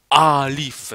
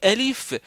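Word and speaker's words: ألف: C'est pas, on ne dit pas a alif. Non, on dit elif. Ok, donc ça c'est le premier truc de prononciation. C'est-à-dire quand je vous dis elif, il faut dire elif comme ça, elif.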